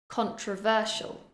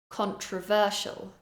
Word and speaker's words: controversial: try to copy me the first word is controversial controversial I'm stressing syllable number three ver controversial controversial vulnerable